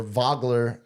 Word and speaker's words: Wagler: Wagler, it's the German V. The W, German W is a V, is how we pronounce a Nowitzki.